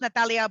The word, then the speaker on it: Natalie: my website is www it's pronounced Natalia but it's spelled Natalie m-a-r-c-o-n-i not macaroni so